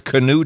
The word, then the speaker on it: Cano: it for those wondering how to pronounce Cano name now you know it's Cano and not no okay that's right so